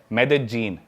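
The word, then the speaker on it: Medellín: Colombia एक country है south America continent में, उसकी एक सिटी है मेदेजीन। स्पेलिंग में उसमें डबल एल आता है, मेदेलीन होता है, लेकिन कोलंबियन स्पेनिश में ल को ज बोलते हैं, तो मेदेजीन वो शायद उसकी मेन सिटी है ना उस कंट्री।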